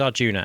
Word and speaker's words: Arjuna: But who is Arjuna and why should we care? Arjun, as I shall actually be pronouncing the name because you hear different variations, is referred to by many as the protagonist of the bag of Agita.